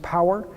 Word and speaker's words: PAWR: So it's the Platform for Advanced Wireless Research, pronounced POWER, and it's a $100